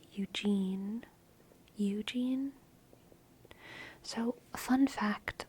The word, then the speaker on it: Eugene: And I think that's how Mandy Moore says it, because she doesn't say Eugen. She says Eugene. Eugene. There's a tonal quality to it that kind of tonally heightens the U, but they're still both like fully pronounced.